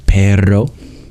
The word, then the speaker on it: perro: flow make it a bit of a Trill that's not the way we pronounce it in English but it is in in Spanish for example if you wanted to say perro for dog the second way which